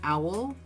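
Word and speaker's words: awl: So an owl, I think it's pronounced owl, A-W-L, is always helpful.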